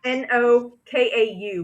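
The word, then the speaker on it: Nokau: Is spelled n o k a u, but it's pronounced No Kau.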